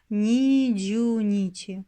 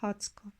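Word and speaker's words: 二十日: De même, on ne dit pas « niju nichi » pour le vingtième ; on le prononce simplement « hatsko ».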